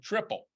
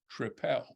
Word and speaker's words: Tripel: me that way otherwise I would have said triple in fact I probably said I'll have a triple when I spoke to him and he then said tripel may maybe he was correcting my pronunciation and not saying which